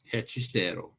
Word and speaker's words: Hechicero: Hechicero.